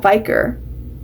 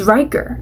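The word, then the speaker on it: Ryker: Okay, so first I thought I said his name wrong. I was like, is it Viker? I think it's Viker. Wait. It's Riker. I keep saying Viker. Okay, it's Riker. I don't know what I'm saying. It's Riker.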